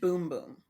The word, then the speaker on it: Bum Bum: This is CC cream and bum bum cream. Like, I don't care about this stuff. Pronounced boom boom.